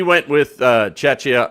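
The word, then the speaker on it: Czechia: Uh by the way, Chetchia, we didn't call it Chetchna to the guy who had time today to say we pronounced it wrong on YouTube. No, we said it right and even spelled it right on the captions. T went with Chetchia, not Chetchna.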